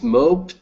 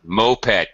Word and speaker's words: moped: see a show is mope or moped moped two syllables good question moped um